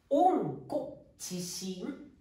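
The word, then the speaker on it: 温故知新: が生まれましたこれ読み方わかりますかこれはオンコチンという風に言います温故知新ですね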